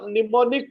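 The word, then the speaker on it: mnemonic: को बोलते हैं सि निमोनिक कोड क्या बोलते हैं निमोनिक code निमोनिक code spelling होगा एम एन ई एम ओ एन आई सी निमोनिक कोड तो प्रोग्रामिंग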